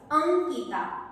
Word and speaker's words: अंकिता: चा उच्चार आलेला आहे आणि जेव्हा हा शब्द तुम्ही उच्चार कराल अंकिता अंकितामध्ये तुम्हाला न चा उच्चार आहे म्हणजे जरी तुम्हाला अनुस्वार